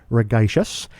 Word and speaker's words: Ragaishis: the name of Ragaishis, and I learned how to pronounce your last name, through your website. You said that it is synonymous with tedacious, so I hope I got your last name pronunciation correct.